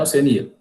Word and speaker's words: Oceania: E aqui, gente, eu não sei se vocês sabem, aqui no caso eu estou me referindo ao continente, né, Oceania. Eu posso pronunciar assim também, ó.